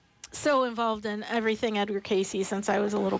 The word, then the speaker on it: Cayce: and you're, you know, typing in K A Y and not finding him, it's C A Y C. Edgar Casey. Thank you, John. Thank you. I Yeah. How did you How did you pronounce it when How did you pronounce it when you Casey, right?